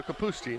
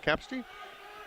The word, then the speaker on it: Kapusti: And it was confirmed that it is the emphasis on the second syllable. So Kapusti, not Kapsti.